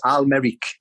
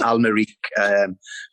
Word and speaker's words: Al-Merrikh: Al-Merrikh. Lee Clark. Hi, Anthony. It's Al-Merrikh, but I'll let you off because I got the pronunciation wrong when I first got there. But it's Al-Merrikh from Sudan.